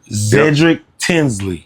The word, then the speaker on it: Zedrick Tinsley: Zedrick Tinsley.